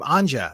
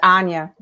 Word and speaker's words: Anja: been pronouncing your name anja is that correct no it's anya anya okay sorry in my